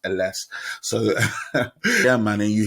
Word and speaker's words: Ellesse: I call it Ellesse, but he corrected me and it's actually pronounced Ellesse.